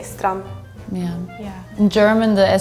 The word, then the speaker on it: strand: the last word like you don't really pronounce the d it's like strum it's spelled like s-t-r-a-n-d let me just say strum yeah yeah in German